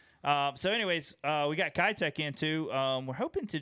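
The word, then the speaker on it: Keitech: It's Kitech, Okay. and so I got corrected too. So don't feel bad because I always called it Keytech as well. So anyways, we got Kitech in too.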